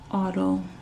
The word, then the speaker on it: autophagy: My body's in autophagy. That's how they say it. That's how they pronounce it.